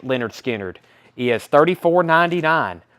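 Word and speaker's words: Lynyrd Skynyrd: is a vg copy for 9.99 leonard skinner pronounced leonard skinner he has 34.99 pronounced leonard skinner 34.99 wow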